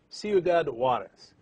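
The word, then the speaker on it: Ciudad Juárez: How do you pronounce that? Because I'm terrible with Spanish. Ciudad. Ciudad Juarez.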